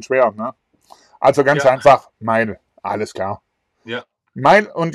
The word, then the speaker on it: Mael: Ja, es ist einfach Mile. Mile, okay. Einfacher als man denkt.